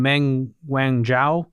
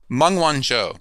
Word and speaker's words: Meng Wanzhou: There was one episode that we did with, how do you pronounce her name? Meng Wanzhou? Meng Wanzhou. Meng Wanzhou, the daughter of the CEO and founder of Huawei.